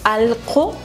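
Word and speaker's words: allqu: que como estamos viendo yo lo pronuncio alco pero se escribe al cierto porque hay una q delante También estamos laab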